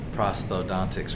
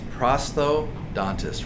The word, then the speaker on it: prosthodontist: If you were to say orthodontist, orthodontist, this is really the same thing. It's prosthodontist, right?